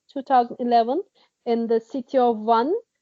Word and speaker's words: Van: in the city of one it's like you can pronounce it like number one 1 or quake 1